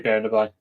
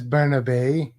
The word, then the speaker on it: Bernabe: How do you say Bernaby? Well, his name is Bernabe.